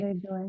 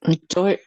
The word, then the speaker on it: le doy: Le doy. I am giving the package to Carlos. Okay. Doyle. Le doy. Doy es correcto. No se dice Le- doyle.